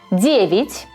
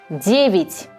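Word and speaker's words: девять: 9. Я не под ударением. Произносим почти как И. 9.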